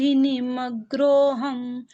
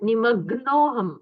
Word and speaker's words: निमग्नोहम: दुतपादन कारकम सुखाम बोध निमग्रोहम जिेंद्र तव दर्शनात यहां पर ग्र नहीं है निमग्नोम मग्न निमग्न मतलब है